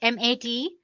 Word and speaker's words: MATE: the mate desktop environment let me pronounce it m80 you can call it whatever you want mate or mate desktop